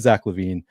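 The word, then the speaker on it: Zach LaVine: said the name um but yeah it is Zack LaVine uh as a Timberwolves fan he came up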